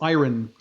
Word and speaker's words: iron: like iron, no, iron, or something like you guys say it more iron in the US. Iron. So we pronounce the R like heavily in Canada.